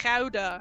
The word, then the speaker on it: Gouda: It's a very Gouda ability to have. Well done, Aridna. That's not how you pronounce that. That's It's Gouda.